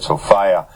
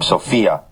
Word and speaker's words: Sophia: means referring to Sofia I pronounced the word Sofia to distinguish it from the common use of the name sopia which is very commonly uh found as a girl's name Did You Know by